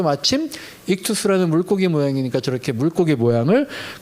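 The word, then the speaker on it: ἰχθύς: 그러면서 잠깐 요걸 살펴보면 이거 우리가 많이 봤던 물고기 모양 익투스라고 이제 발음하는 그 모습이죠.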